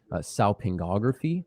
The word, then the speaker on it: salpingography: It's pronounced salpingography.